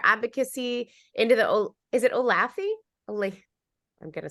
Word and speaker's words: Olathe: She continued her advocacy into the, is it Olathe?